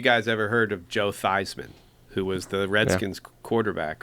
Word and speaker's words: Theismann: Joe Theismann, when he went to Notre Dame, his last name was Thiesman. But Roger told him, we need to change your name so it rhymes with Heisman.